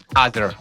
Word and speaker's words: Aazar: How do you pronounce your name? Because I was saying Aazar. Is that correct? Aazar.